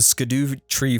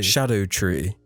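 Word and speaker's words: Scadutree: that beep that the sco tree fragments it's pronounced it's actually shadow shadow tree yeah it's say no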